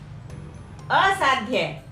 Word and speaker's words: असाध्य: असाध्य, ध आधा बोल रहे हैं, असाध्य।